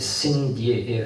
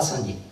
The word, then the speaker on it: Saint-Dié: Si je vous la montre, c'est que cette fois-ci on ne nous dit pas que c'est Cindy. Je pense que les Américains devaient prononcer Cindy.